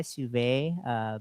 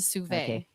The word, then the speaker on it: sous vide: I brought my sous vide. Basically, it's a a French How do you spell that, brother Sunny?